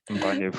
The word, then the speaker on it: Mbanefo: So my first question for you, was it Mbanefo? Yes, Mbanefo. Did I pronounce that right?